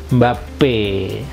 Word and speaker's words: Mbappé: aksong Teh gitu video lezat song sudah bahagia mbappe tuh seperti itu Oke sekarang kita masuk ke